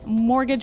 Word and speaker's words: mortgage: I mean, there's this strange mortgage with a T. Yeah, it has a T in it, but you don't pronounce it.